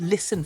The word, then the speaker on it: listen: on to the silent take the word listen for example yep no T sound there and Castle again the